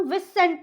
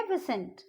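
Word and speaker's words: viscount: विसेंट, इसको हम विसेंट नहीं बोलेंगे, इसको हम बोलेंगे विसेंट.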